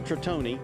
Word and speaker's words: Tritone: He made other models, but this particular boat, it's an Italian word, so Tritone is the correct pronunciation.